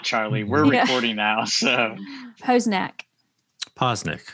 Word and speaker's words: Poznek: it or not charlie we're recording now so poe's neck posnick posnick yes remember what i said about that's her